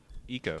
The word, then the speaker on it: Eco: Well, spell it. ECO. Be eco. That would be Eco or Echo. Eco. Like ecological. Speaking of Canada, give me 1 second.